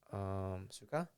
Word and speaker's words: suka: Suka? Okay, yeah. So in Tagalog it's suka, in Ilocano it's sarwa.